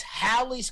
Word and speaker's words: Halley's: haley's comet never existed now it's halley's comet with a double l and a short a wernher the head nazi